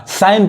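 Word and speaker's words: sign: अब यहाँ देखिए, अब यहाँ पे जी साइलेंट है यानी जी नहीं पढ़ाएगा, साइन पढ़ाएगा। सिग्न पढ़ेंगे गलत हो जाएगा।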